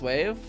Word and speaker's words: WAV: I think it was pronounced wave. Is it really pronounced wave? I've always pronounced it WAV.